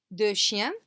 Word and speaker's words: deux chiens: So here, as I said, we've got un chien, one dog, deux chiens, and you can see that this X is not pronounced. Deux chiens, deux chiens. Neither is this final S, deux chiens.